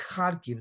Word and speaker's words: Kharkiv: and that's just wrong it's kharkiv the accent is on the first syllables to play devil's advocate